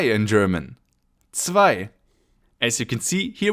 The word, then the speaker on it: zwei: And then we move on with the letter 2 or zwei in German. Zwei. As you can see, here we also have the I sound and the Z followed by a W is pronounced zw.